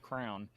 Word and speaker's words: crayon: And so when I say crayon, it drives them nuts because it's almost like I'm putting too much emphasis on the word and making it more syllables than it needs to be. And they're like, no, it's just crown.